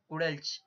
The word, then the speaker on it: Gudelj: I have searched the pronunciation of this guy, and it is Gudelj.